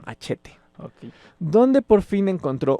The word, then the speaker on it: Hachette: Entonces entró a trabajar a la editorial, no sé si se pronuncia así, según yo sí, Hachette. Machete, no, Hachette.